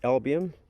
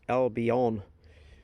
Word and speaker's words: Albion: think was two dollars it's album or actually it's pronounced albion it goes the name